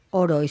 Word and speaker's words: Oroi: Jorge, para empezar y para que os conozcan mejor nuestros oyentes, cuéntanos qué es Oroy. Supongo, no sé si lo pronuncio bien. Sí, está bien pronunciado, Perfecto.